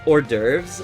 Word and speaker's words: hors d'oeuvres: Have you ever seen how you write hors d'oeuvres, like, at a restaurant or something? Hors d'oeuvres is crazy. It's written like horse d'oeuvres or something.